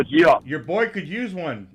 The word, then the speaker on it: Geoff: That'd be Jeff at Wingman Watches, but it's spelled like G-off. Hey, Geoff, Jeff. Oh, Geoff.